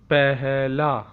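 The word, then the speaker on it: پہلا: First, how to say in Urdu, pehla, pehla, pehla, pehla. Okay, so there are four alphabets: pe, he, lam, alif. Pehla, pehla, pehla.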